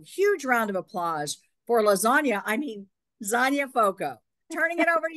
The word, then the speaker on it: Zonya: So hailing from Onsted, Michigan, remember the name rhymes with Zonya, so it's Lasagna, is the host of Zonya's